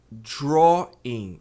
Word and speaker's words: drawing: Então é drawing. E o ng, o N aqui você não vai pronunciar como N, vai pronunciar como se fosse, por exemplo, estavam.